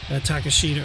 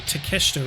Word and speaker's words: Takeshita: Well, our main event, speaking of, is going to be Will Osprey versus Takeshita, or Takeshita, rather, is how it's actually pronounced, and Daniel Garcia in a triple threat.